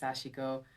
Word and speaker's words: sashiko: Yes, sashiko. Yeah, a lot of folks. It's a tough word if you're not familiar with Japanese, but it's pronounced sashiko.